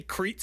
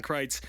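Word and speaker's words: Kreitz: Um I always say Crits on this show because I'm typically am reading it off notes and that's not how you say it. I've said Don Kry's name a thousand times in my life, but anytime I read it, I get it wrong. So, um I'm intentionally not looking at my notes right now so I say it right.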